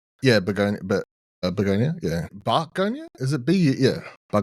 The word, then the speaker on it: Bugonia: Am I pronouncing it correctly? Yeah, Bugonia, Bugonia, yeah.